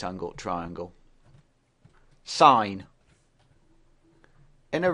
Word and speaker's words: sin: mathematical writing the word sign is shortened to s i n and it is never pronounced sin the angle of interest